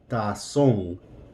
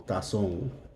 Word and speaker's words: tazón: Tazón. Or notice that the accent is on the O. Tazón.